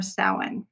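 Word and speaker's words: Samhain: up to Halloween or sa now sa is looks like it would be is spelled Sam hay like s a m h a i n but it is announced s like s o w n people say that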